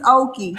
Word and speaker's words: Okie: It's Okie. Like, okie dokie.